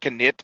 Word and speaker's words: knit: and knife and knife they used to be knife and knit but we dropped the K but the letter stayed